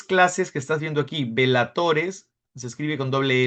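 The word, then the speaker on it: bellatores: Velatores se escribe con doble L. Vela se pronuncia como vela, pero se escribe con doble L. Velatores, oratores y laboratores.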